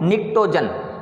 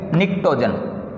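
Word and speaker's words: pnictogen: वो इसको बोलते हैं निक्टोजन। क्या बोलते हैं? निक्टोजन, और इंग्लिश में ये है निक्टोजन। पी जो है वो साइलेंट है।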